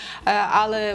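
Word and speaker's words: ale: Але зверніть знову ж таки увагу на вимову, щоби не казати польською, але акцент на першу а.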